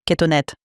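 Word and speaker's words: כֻּתֹּנֶת: Oui, c'est kétonette. Vous le verrez écrit coutonette. C'est comme ça que je l'ai vu, oui. En général, la lettre qui s'écrit EH se prononce aujourd'hui comme un T.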